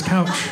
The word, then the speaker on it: Kjell: I'm like, yeah, that's my first name is couch. My parents named me couch. Yeah. How did you know that the J-E-L-L part of the name is totally silent?